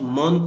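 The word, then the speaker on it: mort: m o r t this T would be silent in this case but we will pronounce this T also later I will let you know how to use it this T will be pronounced but not in past participle case but when we will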